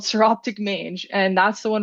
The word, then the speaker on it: Psoroptic: So Psoroptic mange is pronounced Psoroptic.